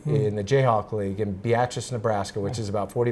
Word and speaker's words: Beatrice: a semi-pro league in the Jayhawk League in Beatrice, Nebraska, which is about 40 miles south of.